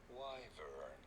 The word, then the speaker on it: wyvern: How do you go about pronouncing it? Just tell me. Wyvern. Wyvern.